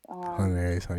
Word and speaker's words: Hunter X Hunter: Hunter X Hunter.